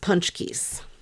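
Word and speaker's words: pączki: know how it's spelled but they're pronounced punch Keys they're so good the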